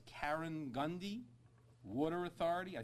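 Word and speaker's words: Karegnondi: I don't want to mispronounce it. It's Karen Gundy Water Authority.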